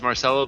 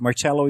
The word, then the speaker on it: Marcelo: tell me have I is Marcelo the correct pronunciation of your name is it Marcelo do I am I getting it right Marcelo Marcel is perfect Marcelo is too Italian okay and my last